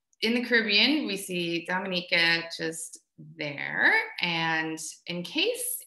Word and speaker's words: Dominica: in for you okay boom we call it dominica yes the nature i love the caribbean it's rum punch time oh we call it dominican it is spelled d-o-m-i-n-i-c-e it is not dominican republic it